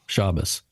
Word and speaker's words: Shabbos: And the accent's on the first syllable, Shabbos.